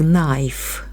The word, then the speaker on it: knife: The other rober took out a big knife. Буква К перед Н не читається. Knife.